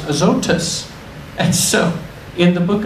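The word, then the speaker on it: Azotus: actually in the Greek language it's it's uh pronounced aotus and so in the book of Acts look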